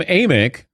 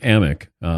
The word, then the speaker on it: Amick: time thank you Dan Sam Amick but he's been mispronouncing his name so it's Sam amock USA Today NBA insider